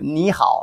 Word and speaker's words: 你好: 你好, like hello. 你 was you. 你, that, if you say it slow, it should be pronounced both third tone, but when you say